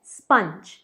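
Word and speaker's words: sponge: अब कई लोग इसे कहते हैं स्पॉन्ज, पर प्लीज़ इसे स्पॉन्ज मत कहिए, ये है स्पंज, स्पंज।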